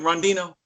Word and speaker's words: Rondeno: Randy no am I saying it right Randy no all right Randy no on I know